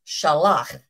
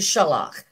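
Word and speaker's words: שלח: There are two words in Hebrew which are pronounced like this, shalach.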